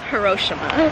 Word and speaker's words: Hiroshima: We are in Hiroshima. I can't pronounce it right. How do you pronounce it? It's correctly pronounced Hiroshima.